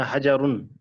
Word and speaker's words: حجر: कुछ लोग इसको प्रोनाउंसिएशन इसकी गलत करते हैं, हिजर पढ़ दे कुछ, लेकिन असल में है ये हजर।